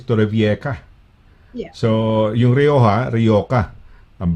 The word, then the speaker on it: Torrevieja: Kamukha na kunyari, for example, Torrevieja. Ang pronunciation ng mga British is Torrevieja.